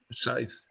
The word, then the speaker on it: scythe: Scythe.